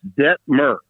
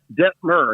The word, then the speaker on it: Detmer: It's Detmer, okay? Rhymes with fur. Think incense and myrrh. Detmer.